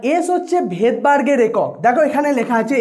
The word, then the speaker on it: Svedberg: এবার এসটাকে ভেদবার্গটাকে যখন আমরা ইংলিশে প্রোনাউন্সিয়েশন করি বা ইংলিশে লিখি, ইংলিশে এর স্পেলিংটা হয় SVEDBERG, ভেদবার্গ। ভেদবার্গের প্রথমে এস দিয়ে স্পেলিংটা শুরু হয় কিন্তু প্রোনাউন্সিয়েশন যখন হয় তখন এসটা সাইলেন্ট থাকে, তখন সেই জন্য এই